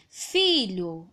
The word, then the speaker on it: filho: Filho, onde eu coloco mais força ao pronunciar é o fi, certo?